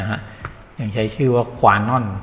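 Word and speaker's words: Kwanon: การ เนี่ย นะ ฮะ ยัง ใช้ ชื่อ ว่า ขวา น่อน k w a n o n ขวา นอล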